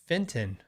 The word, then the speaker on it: Feiten: Um James says it's pronounced Feiten. So, that could be right. Fit I don't know. Feiten?